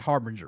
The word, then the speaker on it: Harbinger: I'm pronouncing the album right, correct? Harbinger, right? Yeah, you got it. Okay. Harbinger, meaning, a warning of